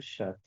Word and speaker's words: chats: Deux chats. Deux chat. Chat on ne prononce pas les T final ni les s.